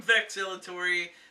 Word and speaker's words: VeXx: Alright guys, I'm VeXx the X is silent, and this is Nerd Militia.